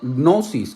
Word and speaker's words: gnosis: significa ciencia es no gnosis con g de gato n ss hipnosis nos escoge lage es muda o sea no se puede leer pero lleva una g